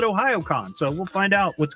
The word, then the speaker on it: Ohayocon: I thought that was Ohayocon, but I looked at one of their videos. They call it Ohayocon, so we'll find out what's going on with that.